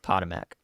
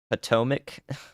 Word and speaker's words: Potomac: You're telling me to say Potomac when it's mac at the end of it, like mac and cheese?